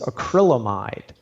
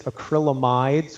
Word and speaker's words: acrylamide: And in vegetables, there's one particular one known as acrylamide. Some people pronounce it acrylamides with an S. It's not correct.